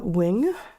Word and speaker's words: Nguyen: That said, 2 of the 6 women, let's see, it's Amanda Wing, is how you tell me that last name is pronounced. Yes, the last name that is spelled Nguyen, yes.